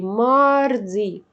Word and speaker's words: mardi: لاندي ماردي، ماردي كل حروفها واضحة.